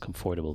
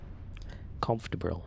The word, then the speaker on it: comfortable: with this comfortable actually i learned i pronounced comfortable the wrong way comfortable comf comfortable there you go comfortable i'm gonna practice